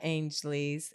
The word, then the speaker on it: Ainsley: You went to Julia Ainsley's.